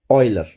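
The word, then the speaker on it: Euler: उसका नाम था ऑयलर। अच्छा कई लोग इसको यूलर भी पढ़ते हैं। लेकिन एक्चुअल ये है ऑयलर।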